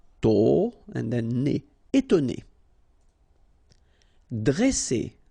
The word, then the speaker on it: dresser: Okay, same thing here. Vowel, vowel, double S, so you pronounce it really strong like S. Okay, dresser. And then when you've got a double consonant after a, you open the sound of the so it will be like e, dre, dresser.